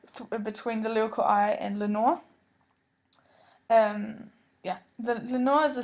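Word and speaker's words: Lenore: the lyrical eye um Lenor rhymes with ever more and never more as it seems like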